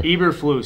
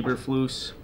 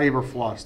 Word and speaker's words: Eberflus: That's how I thought it was pronounced. It's not Eberfluss. That's too weak.